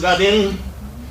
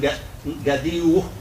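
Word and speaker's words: غدٍ: So naway to gadin, but when we pronounce gadin, and we have wa coming after it, we blend the kasratain with the waw and gadiu.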